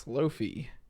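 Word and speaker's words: Slofie: on iphone 11 so if you ever wanted to use the word slo-mo and selfie together it's pronounced slow fee this is kind of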